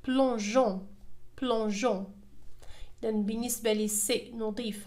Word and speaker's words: plongeons: إذا في هذه الحالة devant O سنقول plongeons وهذا خطأ. لذلك أضفنا E بين G و O أضفنا E لتنطق J لتعطينا الصوت J وننطقها plongeons plongeons.